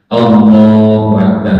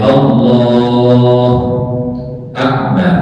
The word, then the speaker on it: Allahu Akbar: Jadi Allahu Akbar tidak boleh Allah Akbar enggak boleh dari syarat Syekh seperti itu.